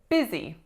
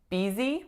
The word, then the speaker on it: busy: this winning syllable so most of my clients either say BZ with a like a sound that doesn't really exist in English e-easy or some of them say buzzy because the spelling of this one is